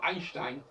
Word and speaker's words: Einstein: retrouve d'ailleurs doublement dans Einstein. Ein, E-I-N, Stein, E-I-N. Et on prononce A.